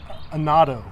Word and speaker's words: annatto: So annatto, am I pronouncing that correct?